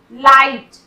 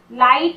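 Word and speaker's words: light: लाइट, लाइट बोल रहे हैं, जी का साउंड नहीं हो रहा।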